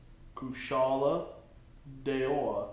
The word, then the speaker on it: Kushala Daora: Kushala Daora. Okay. Just that first syllable. Ku? No, Kush.